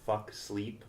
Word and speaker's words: Fuxleep: No, I have a clothing brand called Fuck Sleep. Everyone always spells it wrong. It's pronounced Fuck Sleep, but it's spelled Fuxleep.